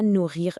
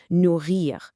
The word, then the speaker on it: nourrir: Now, the absolutely crucial point here is the pronunciation. Nourrir means to feed. It has a double R, so you really want to give it a slight roll or a deep vibration right in the back of your throat.